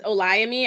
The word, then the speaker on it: Olayemi: last it's me um my name is olami I realize that I never introduced or told anybody how to pronounce my name right and I was like you know what let me say this before this this mispronunciation of it sticks but it's a lie to me but you can call me Olay so you know make